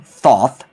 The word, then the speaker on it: Thoth: the best sagas yeah thoth is actually one of those gods names that i've pronounced wrong for the longest time because usually especially with egyptian and semitic languages if you see an o it always makes the o sound so it should be thoth but it's a bad